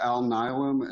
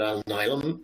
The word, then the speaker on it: Alnylam: So yeah, I'm heading up finance operations with Alnylam, and it's A-L-N-Y-L-A-M, pronounced A-L-N-I-L-A-M.